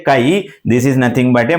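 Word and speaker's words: χ: called mole fraction this how to pronunciate kai This is pronuncious as a kai.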